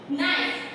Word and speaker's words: knife: नहीं है, KNEE, नी, नाइफ, KNIFE, लेकिन इसमें के जो है वो साइलेंट हो गया, हमारा जो लेटर के है वो साइलेंट हो गया।